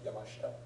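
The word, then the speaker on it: Yamashita: example okay so question would we drop the the she the E on the she like yamashta yes that's an example of yamashta is the normal pronunciation rather than so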